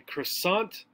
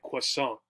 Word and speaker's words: croissant: uh pastry baked good in english we would refer to this as a croissant in french it would be something more like croissant right so the change